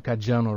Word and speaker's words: Caggiano: Did I pronounce your name Caggiano, right? Caggiano, yeah.